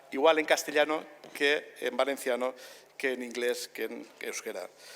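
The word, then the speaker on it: València: en castellano que en valenciano que en inglés que euskera su nombre es el que decide el municipio Valencia es con acento abierto vinaros es como se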